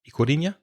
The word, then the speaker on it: Ikurriña: Did you know, Reza, that the flag of the Basque Country, Ikurriña, is that the pronunciation? Ikurriña?